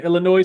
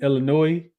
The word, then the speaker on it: Illinois: The S is silent in Illinois. Did I say Illinois? I meant to say Illinois.